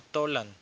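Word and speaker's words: Tollan: que había muchas dudas o mejor pronunciado tolán estas talan eran auténticos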